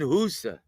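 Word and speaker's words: Hysa: Now, now like while you were gone, we did some scouting on um on uh Nelson Husa and it's spelled H YSA and it's pronounced in Albania.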